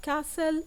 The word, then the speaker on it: castle: cough then we have castle with silent T and we have have